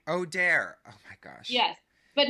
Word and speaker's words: Auder: yeah yeah technically my name is pronounced but don't feel embarrassed when you hear the real pronunciation Jacob it's Odair Odair oh my gosh yes